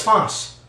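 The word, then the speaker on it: φῶς: But it has the Greek word that I spelled out here for myself, so I would know how to say it right. It's phos.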